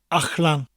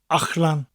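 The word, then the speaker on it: allan: Ach-lan. It's spelled A-L-L-A-N. Again, the double L sound sounds a little bit different in the middle of a word. It's a CH sound with a slight L.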